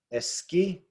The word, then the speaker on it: esquí: Okay, esquí, esquí. The stress is on the last syllable there. But where should it be? It ends in a vowel, so it should be on the ES, but it's not.